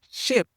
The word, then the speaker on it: ship: Ship, c'est un vowel court. Tu as entendu le I, mais c'est très court, ship.